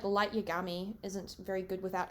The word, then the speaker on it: Yagami: even someone like Light Yagami isn't very good without L like he needs Light Yagami Yagami as in I am gay and this is the